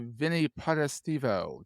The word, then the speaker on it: Potestivo: Because you one of the Italian names that could be like wherever you put the syllables, it can be completely different from how you say it the other way.